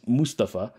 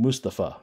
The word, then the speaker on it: Mustapha: He doesn't care if you call him Mustapha or Mustafa. I do believe, though, it is more correct to call him Mustapha Amzil.